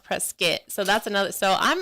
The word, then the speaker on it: Prescott: a town a town spelled like Prescott but it's pronounced pres skit so that's another so